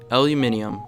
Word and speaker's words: aluminium: on the periodic table in Europe it is pronounced aluminium whereas in the US we say aluminum either way it weighs